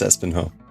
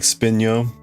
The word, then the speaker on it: Espinho: It's Espenho. Portugal has a lot of mountains too. Person asking about the computer cluster. Sounds like Spinyo. Spinyo Yan.